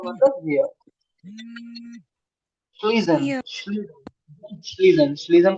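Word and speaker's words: schließen: श्लीजन। Fear श्लीजन श्लीजन श्लीजन का मतलब close. Fusion नहीं नहीं, श्लीजन क्लोज श्लीजन श्लीजन।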